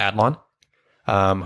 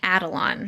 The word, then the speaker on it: Adlon: is voiced by Pamela Adlon, whose name we mispronounced a lot. And the last time we mentioned her, We kept saying Adelon. yeah, we added a syllable.